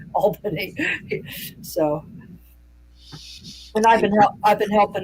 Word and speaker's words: Albany: had to help him with was how to pronounce Albany in New York, because in other parts of